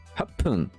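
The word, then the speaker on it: 八分: En gros, il se prononce pas parce que 1 c'est Ichi, c'est Hippon. 6 c'est Loku, Loppun. 8 c'est Hachi, Happun. Et 10 c'est Ju, Jupun. En fait, le pun va être plus prononcé. Le P va être plus fort.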